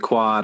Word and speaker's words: Quad: so the conversations with quad I wanted it to rhyme with God and the first thing that came to my mind was Todd and I thought well that doesn't really mean anything it just rhymes with God but then I thought